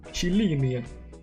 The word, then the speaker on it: Chelina: Yeah, I forgot it's pronounced like ch, like ch, like ch. Alright. Chelina.